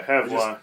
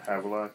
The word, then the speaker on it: Havelock: But, yeah, Havelock. I just said Have in my mind. Havelock. Like Haven. That's how I read it.